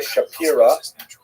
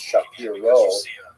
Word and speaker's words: Shapiro: By the way, Rabbi Shapiro is uh is the common English transliteration of his name, although it really would have pron been pronounced Shapiro in Poland.